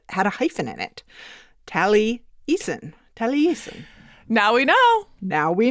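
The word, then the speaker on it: Taliesin: has a masters he has some insight about tally assin our first experience back on Monday and he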